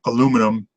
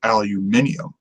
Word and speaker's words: aluminium: you know observable on it's like how we say aluminum when the correct British pronunciation is aluminium turtle um but it